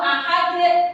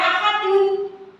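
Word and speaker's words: أحد: qul huwallah ahad ini ya betul penulisannya nanti nek salah iya betul Ya, qul huwallahu ahad. Nah, ini kenapa gak dibaca ahadun? Karena dibaca wa waqof. Jadi dekne jadi su sukun.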